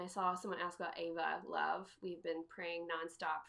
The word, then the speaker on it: Eva: If you go to the top, hit shop, and then go to, I think it's under more, and then Ava Love. It's spelled EVA. Ava Love.